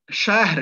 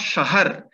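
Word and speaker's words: شهر: This is why it is pronounced as shahr and not shahar. As in Urdu, we call it shahar, yeah, or in Hindi, we call it shahar. But actual pronunciation of this word is shahr, because it is closely connected with the kshatra.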